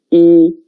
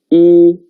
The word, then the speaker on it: 一: And the pronunciation is 一, 跟我读, 一, 一.